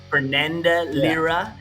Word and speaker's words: Fernanda Lira: Fernanda Lira.